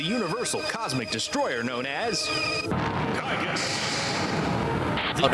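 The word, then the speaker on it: Giygas: The Earth is in danger from the universal cosmic destroyer known as Kigus. Oh no, it's Giga. You're supposed to pronounce it Giga. Like Gigafil.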